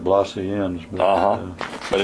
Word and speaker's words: Blasienz: to make sure that I'm saying your last name right is blazing yes blazing okay that's been the pronunciation blaz I think in Germany maybe they call it Bloss en but uhhuh but it's